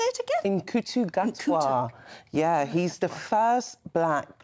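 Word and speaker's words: Ncuti Gatwa: In Kutu Gatwa.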